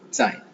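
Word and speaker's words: 在: இன்னொன்று சாய், Z இருக்கு, ZAI, சாய், Saina DSAI. Z வரும்போது அதுக்கு ஈக்குவலா DS சவுண்ட். ஓகே, சாய்.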